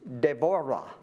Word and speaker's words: Deborah: And Deborah is Devora except you do that trill thing with the R which I can't do again.